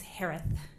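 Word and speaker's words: Herath: Last name is pronounced like Harris with a lisp. It's Harith.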